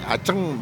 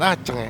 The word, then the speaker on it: Aceng: pocong tiba CD kemarin somay Aceng bacanya bukan Aceh anjing jadi Green Garden